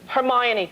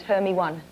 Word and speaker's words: Hermione: How do you say her name? Hermione. Good. My favorite pronunciation, though, is Hermy 1.